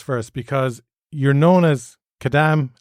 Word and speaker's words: Kadam: Because you're known as Kadam Adam. Yeah. And Kadam is a typical name in Kadampa Buddhism. Yeah. It's great that it rhymes with your name, isn't it? Just stick a K in front of my name and we're good to go.